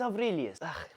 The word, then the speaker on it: Aurelius: Did I get better in pronunciation? Aurelius. It's Aurelius.